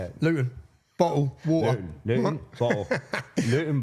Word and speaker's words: Luton: And so anyone, if you don't understand Luton, see, I pronounced my T there. We don't pronounce our T's. I've done that for you. How do you say it? Luton.